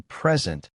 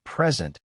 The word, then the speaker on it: present: Like the difference between present, as in a gift, and present, as in to show something.